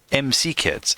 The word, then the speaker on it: McKids: It's spelled MC Kids. But it feels weird to say MC Kids. It should be McKids.